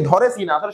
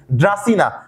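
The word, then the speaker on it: Dracaena: ধরেনা সঠিক উচ্চারণ কি? ড্রাসিনা আর ইকা দিয়ে ইকা নামে একটা প্লান্ট আছে।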